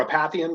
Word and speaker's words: Apathian: Is it Apathian or Apathian?